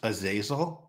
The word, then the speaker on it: Azazel: we talk about music can I clarify it's pronounced a zazil is that right a zazil it's a zazil is that the name of the hero I like Azazel like